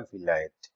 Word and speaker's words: Vilayet: সো সেই ভাষায় ইংল্যান্ডকে বিলেত বলা হয়, যেটাকে ইংলিশে উচ্চারণ করলে হয় ভিলায়েত।